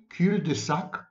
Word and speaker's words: cul-de-sac: Every cul-de-sac, that's the correct pronunciation, cul-de-sac, not cul-de-sac.